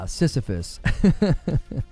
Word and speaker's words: Sisyphus: Yeah, Sisyphus.